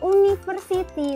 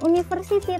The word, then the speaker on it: university: University. Bacanya bukan university tapi apa? University. Huruf awalnya adalah huruf vokal. Kemudian apa? Bacanya adalah y, konsonan.